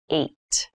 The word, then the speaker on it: eight: is the number h this has an interesting spelling it's pronounced eight eight is a lucky